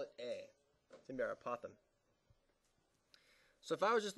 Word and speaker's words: apothem: something that's called the apoem it's a strange word the apothem is going to be labeled a and this how you spell it a p o t h m it's apoem the apoem is going be